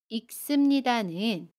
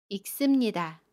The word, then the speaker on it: 읽습니다: 읽습니다는 읽습니다 라고 발음해요. 겹받침 리을 기억 중에 두 번째 받침 기억을 발음합니다. 그래서 익으로 발음하고요. 습은 씀으로 발음해요. 읽습니다.